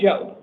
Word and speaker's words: Joab: it spelled correctly because it sounded like it was pronounced differently than it's spelled. Yeah, it was spelled wrong previously to it, so it was a J-A-O-B. I have it spelled as J-O-A-B. Is that the proper spelling? Yeah, they just corrected it up there. All right. I want to make sure we get it right in the court record, so it sounds like it's right. But it's just pronounced Joe.